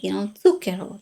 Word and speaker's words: zucchero: They might say zucchero. That's, I mean, you will be understood. No one's going to like not understand you, but it's not the right pronunciation. So, and this is actually pretty common in a lot of European languages. So, ts, not z.